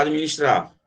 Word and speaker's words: administrar: Esse D é mudo aqui, tá? Administrar. Se a gente fosse bater palma, quem gosta de bater palma, esse D seria uma sílaba, vê, ó. Administrar. Aí essa palma aqui para esse D mudo não rola. Porque parece que aqui tem um, assim, ó, administrar com I, mas não tem.